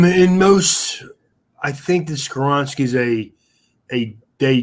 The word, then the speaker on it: Skoronski: And Skoronski, I think I say his name right? Skoronski. Skoronski, yep.